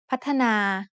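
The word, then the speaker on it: พัฒนา: that contains to is Pana which means to develop when you look at the word patana you might see only two syllables but it is actually said with three syllables the first syllable has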